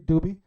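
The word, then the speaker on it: Dubhe: a star that's call I call it dubby some people pronounce it differently dubie but dubie as you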